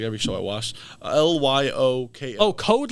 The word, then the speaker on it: Lyoko: every show I watched l-y-o-k oh code leoco I thought you're saying coleoko no Code Lyoko oh okay wait oh